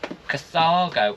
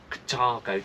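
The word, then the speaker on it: Carthago: This is going to be Cathago or Katago, depends how you say it.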